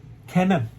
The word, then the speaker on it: Kennan: end with him his name is george f kennan george f kennedy cannon is spelled k-e-n-n-dublin cannon he is an american went